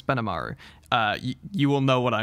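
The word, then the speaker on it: Benimaru: No, I'm not saying his name wrong. It's Benamaru.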